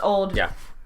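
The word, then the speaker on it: auld: old Alliance yes and in Scottish it's spelled a u l d but it's it's pronounced old it means old no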